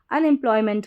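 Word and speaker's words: unemployment: तो स्पेलिंग हमारी क्या बन जाएगी, शुरू में देखिए UN, अन, EM, इम, EM को पढ़ेंगे इम, अन इम। फिर है PL को प्ल पढ़ते हैं, और OY को ऑय। तो ये पूरी बन गई स्पेलिंग PLOY, प्लॉय। क्या बन गई, प्लॉय। कैसे, PL को प्ल पढ़ा, ठीक है, और OY को ऑय, तो प्लॉय। फिर मेंट, MENT, मेंट। तो पूरी स्पेलिंग बन गई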